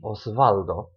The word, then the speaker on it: Osvaldo: If you see, for example, the name Osvaldo, don't be surprised when people pronounce it like a V, Osvaldo, because, they don't have the W in Spanish.